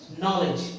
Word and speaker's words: knowledge: अब इसमें देखिए, इसमें फिर हमने डी का प्रोनाउंसिएशन नहीं करा। क्यों? क्योंकि डी किसके पहले आया है? जी के पहले आया। तो नियम क्या है? जब डी जी के पहले आता है तो हम डी का उच्चारण नहीं करते हैं।